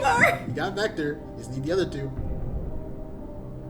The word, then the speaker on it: Vector: I cannot believe I said that um it's vector mhm we're not counting Knuckles though so three